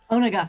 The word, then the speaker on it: Onega: Onaga. Onega, sorry. Oh, that's right. Yeah, oh man, I was pronouncing it wrong.